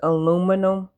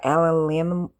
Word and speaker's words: aluminium: Because aluminum or aluminium, see, I can't even say it like the rest of the world say it. Aluminium, ain't that how they say it? I might be adding an extra little something there.